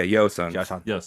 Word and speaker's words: Joseon: 500 years ish five yeah you said the yo sounds yeah yo son it's spelled um it's spelled Jose on okay you already started